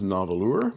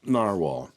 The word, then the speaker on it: Nahvalur: tempted to call this novalour this is Icelandic spelling of narwhal and it's pronounced narwhal and it is a